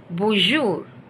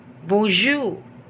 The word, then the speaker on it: bonjour: salute hi or hello bonjour bonjour where n is not that much stressed which means good morning